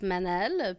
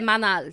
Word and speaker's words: Manal: Fait que c'était Manal, tu sais. Puis la première journée de mon secondaire... C'est même pas de même, ça se dit. Non, parce que le A en arabe, ça se prononce autrement.